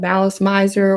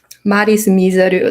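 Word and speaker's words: Malice Mizer: They were called Malice Miser or Malice Miser, Maris Miseru, like however you want to pronounce it.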